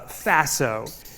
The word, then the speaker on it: Faso: and takeaways from that I call uh Faso or it kind of rhymes with lasso that's an S um